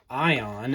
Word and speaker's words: Aion: Today, we are taking a look at the O knife Ion. And I did have some questions about how to properly pronounce this because some of these pieces of